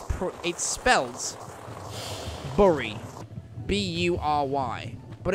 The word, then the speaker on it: Bury: pr it spells bori b-u-r-y but it's pronounced berry b-e-r-r-y but it's just pronounced